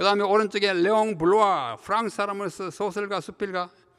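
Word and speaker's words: Bloy: 그 다음 두 번째는 레옹 블로아, 영어로는 블로이지만 이게 블라는 사람이니까 블로아 이렇게 읽어야 맞습니다.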